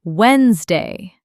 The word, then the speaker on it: Wednesday: It's actually pronounced Wednesday. The first D is silent.